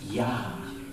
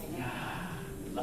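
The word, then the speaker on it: יה: And that is pronounced yah. Yah. Like almost like breathing.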